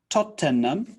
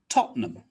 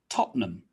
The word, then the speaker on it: Tottenham: that's not really correct top ten num is three syllables we cut it down to just two tottenham tottenham so repeat after me